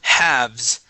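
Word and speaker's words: halves: uh let's go to haves all right so the L here will be silent okay it is haves haves haves there you go haves okay just like uh to have something all right but yes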